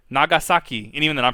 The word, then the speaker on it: Nagasaki: with in high school pronounce it Hiroshima and nagoski I you not and I'm like Nani Nani Kore it's Hiroshima Nagasaki and even then I'm